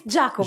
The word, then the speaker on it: Giacomo: I never know how to pronounce that. Giacomo. It's Giacomo.